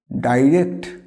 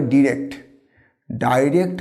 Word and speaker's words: direct: এটাকে আমরা বলি কি? ডাইরেক্ট। আবার কেউ উচ্চারণ করে ডিরেক্ট বা ডিরেক্ট। Which pronunciation is কারেক্ট? না, এখানে the both pronunciation R কারেক্ট।